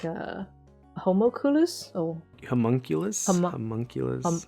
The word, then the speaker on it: homunculus: he's made by an alchemist oh like a homoculus or homunculus homunculus homunculus yes i i just remember the japanese pronunciation from full metal alcohol metal alchemist yes